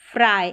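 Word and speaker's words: fry: तो फ्राई है यहां पर आई करके साउंड आ रहा है वाई का। तो चलिए frog frame fresh fruit फ्राई।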